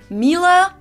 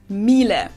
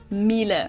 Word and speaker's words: Miele: usually say something like Miele, Miele. So it usually sounds more like an A in the end, whereas in German we say Miele. Miele.